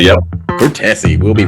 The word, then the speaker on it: Cortese: I want to make sure I pronounce this right. Cortese? Cortese, yep. Cortese.